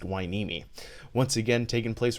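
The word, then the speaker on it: Hueneme: And yes, that's pronounced Weini.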